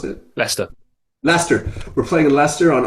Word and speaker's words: Leicester: Is that how you pronounce it? Leicester.